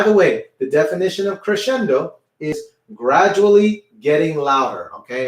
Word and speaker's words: crescendo: Okay, if you really want to sound very Italian, make sure you roll the R.